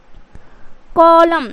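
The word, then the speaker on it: column: है उसमें a letter जो है वो उसे साइलेंट करना है तो क्या हो जाएगा ऑटम उसी तरीके से कॉलम क्या इसको को क्या कॉलम उसी तरीके से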